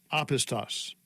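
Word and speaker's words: ἄπιστος: The Greek is apistos. Strong's G571, apistos. Apistos. Okay, that's the pronunciation.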